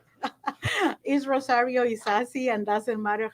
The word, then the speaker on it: Isasi: name so we get it right is rosario is sassy and doesn't matter how you pronounce it he's okay oh yes we embrace